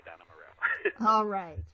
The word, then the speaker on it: Adana Moreau: And yes, that was the absolute correct way to say Adana Moreau.